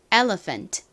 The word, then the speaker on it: elephant: n 동물인데요 어떤 동물일까요 코끼리를 의미하는 단어예요 코끼리 발음 연습해 볼까요 elephant elephant 한 번 더 해보겠습니다 PH n 프